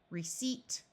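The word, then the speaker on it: receipt: sealing conceive receive deceive receip this p is silent and perceive and all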